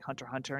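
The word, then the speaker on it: Hunter × Hunter: where like it's like hunter hunter and you don't pronounce the x don't pronounce the x in hunter hunter okay called out called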